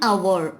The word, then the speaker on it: hour: I will meet you in an hour. Hour. Here H is silent.